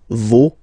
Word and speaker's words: vos: for this word, no, you don't pronounce the final S, vos, you don't pronounce it, leur. Okay, so if we say that one more time, it's me, te, se, and then no, vos, leur.